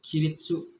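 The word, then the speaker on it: 起立: Kirit itu sebenarnya dibacanya kiritsu, cuman gak tau kenapa kata senseinya untuk penyebutannya menjadi kirit.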